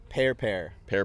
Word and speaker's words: Pehr: Pear. Pear. Yes, PEHR space PEHR. Oh, okay. With an H. Yes. The H is silent.